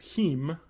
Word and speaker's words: heme: So wheat and potato proteins that they've added the iron-containing molecule heme, H-E-M-E. I think that's how you pronounce it, which is found in a lot of natural plants.